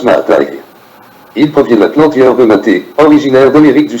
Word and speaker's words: MATE: testé est très fiable le nom maths se prononce ma taille il provienté originaire d'Amérique